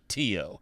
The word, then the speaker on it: Tio: Now, what we're going to do to overcome this is we're going to install a program called Tio, spelled like uncle in Spanish.